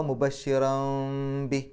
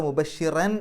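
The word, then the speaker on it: مُبَشِّرًا: ചുണ്ട് കൂട്ടുക അപ്പൊ വ മുബഷിറംബി മുബഷിറംബി അവിടെ മുബഷിറൻ എന്നല്ല മുബഷിറം മീമിലേക്കാണ് പോകേണ്ടത് എന്ന് സൂചിപ്പിക്കാൻ വേണ്ടി ആ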